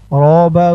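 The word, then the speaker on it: رَبَّ: টান আল্লাহুম মিম জবর মা আল্লাহুম্মা র বাবা জবর রব বা জবর বা রব্বা দোয়াটি শুধু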